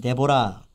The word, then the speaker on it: 드보라: 이게 틀리고 쉐와에서 히브리어 발음으로는 데보라, 개혁성경은 드보라로 이제 번역이 되겠습니다.